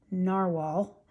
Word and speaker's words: Narwhal: This one I showed on a previous video, but this is the Navaler or I'm sorry, Narwhal. I know they spell it this way, but it's still pronounced narwhal.